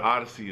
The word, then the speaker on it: Oddisee: to pimpa Butterfly um but Odyssey is crazy dope if you don't know who he is o d d i s e e yeah I had to